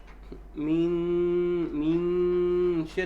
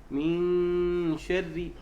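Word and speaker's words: مِن شَرِّ: لا، الآن النون من وبعدها شين. الحكم ما الحكم؟ إخفاء. النون وبعدها الشين. النون من طرف اللسان، الشين من وسط اللسان صح؟ نعم. طيب، إذن عند نطق النون إذن هي قريبة منه. نعم. لا بد من إخفائها. فلا نقول من شر لأن هذا أشبه بالإظهار.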